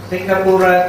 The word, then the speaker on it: Singapura: Singapore means Singapura. Pronunciation is different. Singapura, this is a Pali term.